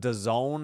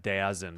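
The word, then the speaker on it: DAZN: Um, but internationally, doesn't Don have everything? I feel like everything runs through them, but I have no idea. Or it looks like Dazzin, but they pronounce it don Disney Plus for $9 a month.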